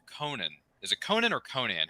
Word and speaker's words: Conan: is it Conan or Conan how do you pronounce it Conan worked on the calendar yeah because you know Robert E Howard was from Texas don't expect European pronunciations out of this sorry sorry it's Conan